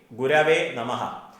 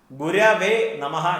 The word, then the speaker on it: ഗുരവേ നമഃ: അപ്പൊ പരം ബ്രഹ്മ തസ്മൈ ശ്രീ ഗുരവേ നമഃ. ഗുരവേ നമഃ എന്നുള്ളതാണ് ശരിയായിട്ടുള്ളത്. ഗുരുവേ നമ എന്ന് കേട്ടിട്ടുണ്ട്. നമ എന്നല്ല, നമഃ എന്ന് തന്നെയാണ്. ഗുരവേ നമഃ.